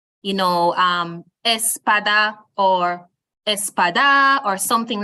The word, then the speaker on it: espada: um which is Espada the word is pronounced Espada now if I am to snap my finger on the syllable that has a stress which is the second to last one you realize that there are three syllables the word ends with an a a foil which is why we place the stress on the PA which is the second to last syllable which is why we say Espada and not something like